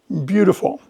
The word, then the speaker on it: beautiful: Beautiful. Beautiful sounds like it's spelled with a D, but it's beautiful.